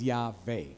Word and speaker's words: Yahweh: The best way to pronounce this is Yahweh. La mejor manera de pronunciarlo es Yahweh.